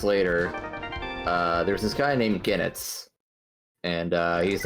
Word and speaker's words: Goenitz: Genitz, it's spelled Goenitz.